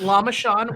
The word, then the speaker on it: Lamashan: october is uh lam lama this is how it's spelled l-a-m-a-s-h-a-n lam lam-mash lamashan islamist john yeah bill it's lama sean which is named after lamash2 okay um so